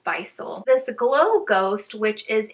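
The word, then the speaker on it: Bissell: i have this visual do you guys say buy soul bystol let me know i've heard people say it a few different ways i'm going to be pronouncing it as bisol this glow ghost which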